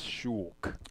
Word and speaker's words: Shulk: All right, and gotta say the The correct pronunciation for this is Shulk. Okay. It's not Shulk.